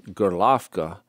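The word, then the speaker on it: Gorlovka: higher learning there in golovka that's the russian pronunciation of it it's it's spelled like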